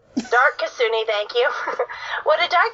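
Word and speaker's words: Dark Kitsune: Just say Dark Kasuni. Dark Kasuni, thank you.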